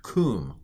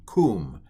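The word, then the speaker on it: קוּם: sound this is pronounced kum kum and it means rise um but anyway this what is it called drum roll please it's a sharook and it's an oo sound um and it's a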